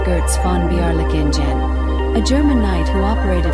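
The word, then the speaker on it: Götz von Berlichingen: The most infamous example is God's van Berlinen pronounced Girtz Fonbearen, a German knight who operated for decades as essentially a medieval warlord.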